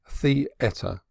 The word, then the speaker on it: theatre: by going to the theater the etta they pronounced it they went to the